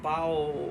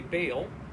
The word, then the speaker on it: Baal: god had feared and worshiped bowel or his americans say baal and ashtara which were